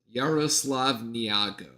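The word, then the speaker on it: Yaroslav Niagu: And well, I guess it's actually Yaroslav. Yaroslav Niago is how it's actually pronounced, according to the pronunciation guide.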